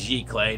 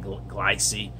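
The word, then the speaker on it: giclée: It's pronounced giclee, not glycee. It's a giclee, and it's a French term.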